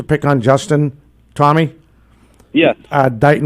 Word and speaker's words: Dighton: Dighton Rehoboth. He's called Digitin Rehoboth. But he's pronouncing it. Master himself. He was pronouncing it correct.